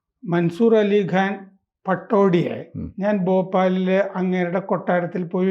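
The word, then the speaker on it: Pataudi: ഈ മൻസൂർ അലി ഖാൻ പട്ടോടിയെ ഞാൻ ഭോപ്പാലിൽ അങ്ങേരുടെ കൊട്ടാരത്തിൽ പോയി ഒരിക്കൽ കണ്ടു അങ്ങനെ ഒരു കോൺഗ്രസ് സ്ഥാനാർത്ഥി ആയിരുന്ന കാലത്താണ് സംസാരിച്ചു കൊണ്ടിരുന്നപ്പോൾ അദ്ദേഹമാണ് എന്നോട് പറഞ്ഞത് പട്ടോദി എന്നാണ് ഞാൻ തിരിച്ച് ഞങ്ങളുടെ പത്രത്തിലൊക്കെ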